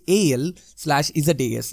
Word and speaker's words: Alsace: The Alsace ன்றது பாத்தீங்கன்னா the word different-ஆ இருக்கும். ஆனா அதோட pronunciation AL/ZAS இந்த சவுண்ட் வரும்.